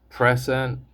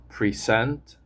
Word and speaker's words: present: For example, present is a noun, present is a verb. Notice that the pronunciation changes depending on which syllable receives the stress.